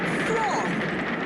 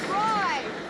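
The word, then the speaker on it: Froy: Freud rhymes with joy. Oh, Freud!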